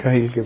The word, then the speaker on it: Khalil Gibran: I remembered a poem of Khalil Gibran, mm-hmm. or Gibran, how you pronounce it. Yeah, Khalil Gibran.